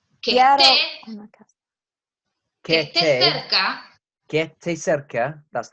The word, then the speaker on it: que esté: Remember, because you're pronouncing the S, but you're not. So, que esté cerca. That almost sounds like one word. Yeah. Que esté almost sounds like it's blending into one word, isn't it?